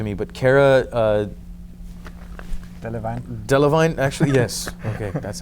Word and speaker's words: Delevingne: it up to me but Cara a divine delevingne actually yes ok that's how we pronounce it I didn't want to mispronounce your